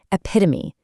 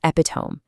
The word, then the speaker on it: epitome: Finally, epitome, meaning the perfect example of something. It is not epiome. It actually demands four full syllables to sound correct.